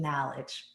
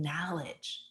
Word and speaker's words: knowledge: And then we gain knowledge. The K is silent. We gain knowledge, and then that's how we begin to work together.